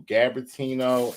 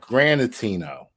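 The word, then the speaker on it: Granitino: her name right because I was saying Nicole gabatino and I think it's uh it's pronounced different and when I come across it I will I'm sorry it's not gabatino it's Granite granatino g-r-a-n-i-t-i-n-o that's the prosecuting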